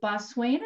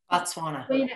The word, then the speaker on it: Botswana: retreat presenter and president heather has traveled to bosweina is that how you say it botswana yeah and south africa to interview and collect